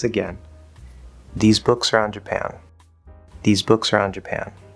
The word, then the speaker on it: Japan: We know Japan is stressed on the second syllable. So listen carefully. Which one of those 2 is higher? These books are on Japan. These books are on Japan.